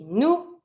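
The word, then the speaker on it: nous: she L we we say new don't pronounce the S you V don't pronounce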